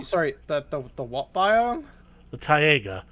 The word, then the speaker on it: taiga: The taiga. It's a evergreen forest. It's a It's pronounced taiga. it's pronounced tiger and it's coniferous forest.